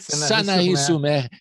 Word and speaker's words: Sanary-sur-Mer: Diabaria, em Sanary-sur-Mer. Você me corrija aí a pronúncia? Não sei se eu acertei. Estou me preparando aqui. Está perfeito. Sanary-sur-Mer, que é no sul da França, né?